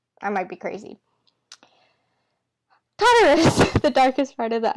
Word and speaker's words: Tartarus: So I'm going to say Tartarus because that's how I hear it in my head. I might be crazy. Tartarus, the darkest part of the underworld.